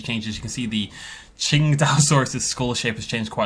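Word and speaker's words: Tsintaosaurus: And I will try to hammer that into my brain, Qingdao, because it's based on a place, and that's how you pronounce the place name.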